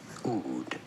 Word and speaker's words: Oud: How do you say it? Oud. Oud. A stringed instrument.